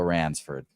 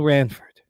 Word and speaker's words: Ranford: Yeah, Jimmy Fritz's going to be for our guy Bill Ransford. You keep pronounce you're doing it. You're mispronouncing his name every single day. Uh, there's no S. So, it's Bill Ranford.